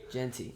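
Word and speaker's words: Jeanty: Genty, yep.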